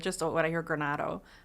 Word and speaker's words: Granato: So it's just when I hear Granato, it's still like, oh, Granato.